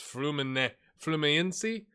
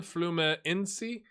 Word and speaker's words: Fluminense: And then FLU, I'm almost certain, is Fluminense. Someone said to skip the N, the first N, Fluminense.